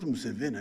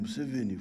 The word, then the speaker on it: Museveni: I'm not Museveni, I am Museveni, flat. Huh?